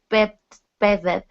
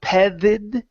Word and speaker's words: petted: Now, instead of pronouncing a Spanish D in the middle, pedid, okay, it's pedid. Petted.